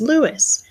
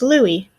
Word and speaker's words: Louis: first name is louis in english you might pronounce my name as lewis but here in france people pronounce my name as louie i'm in the third